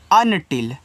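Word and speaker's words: until: अनटिल।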